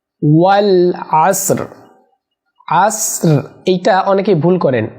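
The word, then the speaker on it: والعصر: ওয়াল আসর, ওয়াল আসর। আসর এইটা অনেকেই ভুল করেন, পারেন না। এখানে হিডেন র, আসর রটা হালকা উচ্চারণ হবে।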